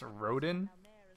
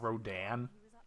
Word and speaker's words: Rodin: Wouldn't it be pronounced Rodin, not Rodan? Like it would be an A instead of an I.